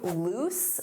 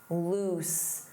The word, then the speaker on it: loose: Let's review loose. Notice that pronunciation, oose, loose, loose.